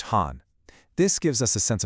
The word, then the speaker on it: 邯: The first one, pronounced Han.